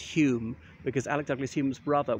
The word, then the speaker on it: Home: Remember, it's Home pronounced Hume because Alec Douglas Hume's brother was a well-known playwright, and one of his plays was entitled Home pronounced Hume.